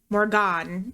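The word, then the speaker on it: Morrígan: not Morgan the Morgan morgon is actually how you say it the morgon and she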